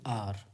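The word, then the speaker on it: hour: तो आर, इसको क्या बोलेंगे, आर। एच साइलेंट है तो आ का यहाँ उच्चारण आया।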